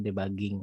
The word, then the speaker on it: debugging: Dibacanya bukan debug ya, debug gitu ya. Nah, debugging. Jadi proses memperbaiki error biasanya. Jadi kalau sudah diuji ternyata ketemu error, nah itu ada proses perbaikan. Nah, perbaikannya namanya debugging atau debug.